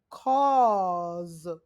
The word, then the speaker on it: cause: Aw, claw, draw, gawk, because, ma, paw, raw, saw, pause, ball, jaw, hawk, law, cause has the Z sound at the end, claws.